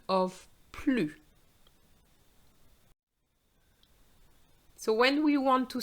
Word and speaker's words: plus: have the liaison so you don't pronounce the s when you want to use the structure the more the more in french is blue